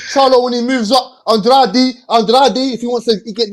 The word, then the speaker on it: Andrade: you his name is again his name is pronounced andrade people still don't know how to pronounce his